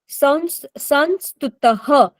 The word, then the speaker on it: संस्तुतः: यह संस्तुतः, यहाँ पर 2 डॉट आ रहे हैं, यह के आगे 2 डॉट, उसका प्रोनाउंसिएशन ह होता है।